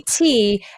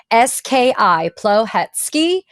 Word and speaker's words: Plohetski: For those of you that are watching and listening, it is spelled Thank you. Plohetski, Plohetski.